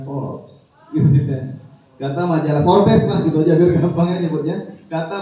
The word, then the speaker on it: Forbes: muda kata majalah Fals tulisannya Forbes bacanya Force kata majalah Forbes lah